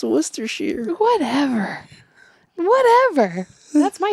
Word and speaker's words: Worcestershire: And I said Worcestershire? It's pronounced Worcestershire.